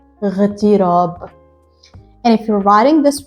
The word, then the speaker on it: اغتراب: And you have to remember while reading this word that this Alif is not pronounced. So you start the word with the letter ghain and you say اغتراب. اغتراب.